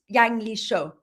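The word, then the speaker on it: Yangleshö: which is in Tibet, Yangli Sho. I had a Tibetan person teach me how to pronounce that for my audiobook.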